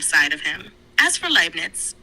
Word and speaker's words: Leibniz: As for Leibniz, you can pronounce it Leibniz, with a slight emphasis on the B.